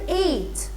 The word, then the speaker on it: eight: silent like the word eight e i g h t number eight a eight g h we don't pronounce this the g h i